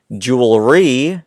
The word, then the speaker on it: joules: which is joules and I'm not talking about jewelry right not that kind of Jewel this jewel is a little different it's and it's spelled different too j-o-u-l-e-s okay so that will